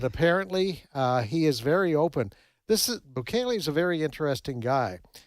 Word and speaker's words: Bukele: Is that how you pronounce it? Bukele, yes.